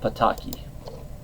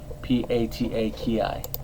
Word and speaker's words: Pataki: In this episode, the Sewer King, he is voiced by Michael Pataki, if I'm pronouncing that last name correctly, P-A-T-A-K-I, or Pataki, who passed away in 2010.